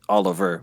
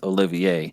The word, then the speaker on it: Olivier: then, well, I mean, if without hearing the pronunciation, you would just assume it's Oliver, but then it's actually pronounced Olivier.